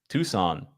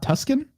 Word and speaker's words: Tucson: Is it actually Tucson and not Tuscan? No, well, cause then it would be Tuscany.